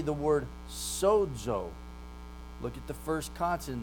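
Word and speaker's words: σῴζω: Now the middle of that word though, sozo, the zeta, it's pronounced like a DZ. So if you look in your transliteration there, I put DZ there for you so you know how it's pronounced. When you have zeta in the middle of a word, it becomes like a sibilant. It's a combination of delta and sigma put together.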